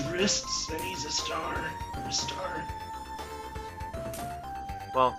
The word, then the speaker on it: Ristar: Ristar. Well, Sega has actually confirmed that it's pronounced Rystar, so fuck you.